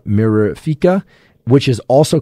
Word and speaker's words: mirifica: And this one is also particularly difficult to pronounce. And it's Pruraria mirifica. So I'm going to spell this out for you. It's P-U-E-R-A-R-I-A, Pruraria mirifica.